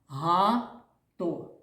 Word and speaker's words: багато: Ба, багато. Правильно, три склади, дітки. Який перший склад? Ба, другий- га. А третій- то. Дітки, а який склад наголошений? Багато. Правильно наголошений другий склад.